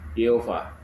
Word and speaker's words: YHWH: Jadi yang betul adalah ini ya, YHWH. Pelafalannya adalah Yehova ya.